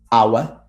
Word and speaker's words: hour: except for four cases there are only four words in which the age is silent and obviously that the words that are either compound or that come from these words and they are our honor honest heir and